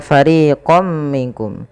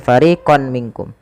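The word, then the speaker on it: فَرِيقًا مِّنكُم: 2 harokat, dan kemudian ketika fariqam minkum ini tidak dibaca dengan fariqon minkum, tapi suara tanwinnya awalnya fariqon ketemu mim, masukkan fariqam ya, sembari kita tahan suara mimnya.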